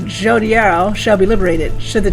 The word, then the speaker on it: Jodariel: Oh my god, this is the first time I'm hearing how to pronounce her name. Jodariel.